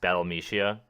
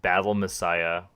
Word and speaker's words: Battle Mexia: Can you guess how it's pronounced if I tell you it's not pronounced Battle Mexia? Oh God! I give you like 3 guesses. No, It's pronounced Battle Messiah.